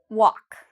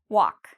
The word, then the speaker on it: walk: And what about walk? Walk. Is there something I'm not pronouncing in this word? Walk. Do I pronounce every letter? No. Walk. Okay, so the L, if you said the L, I'm not pronouncing the L. You're correct.